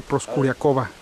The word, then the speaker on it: Proskuryakova: Que aunque su nombre se escribe Proskuryakov, pues descubrí que Proskuryakov solo es para el masculino. Como ella, mujer, pues se tiene que decir Proskuryakova.